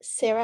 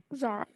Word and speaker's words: Zara: add on, I'll let Sarah ask another question. Sorry, I forgot to lower my hand. Oh, no worries. I'm sorry if I'm pronouncing this wrong. Zara? Zara, yeah.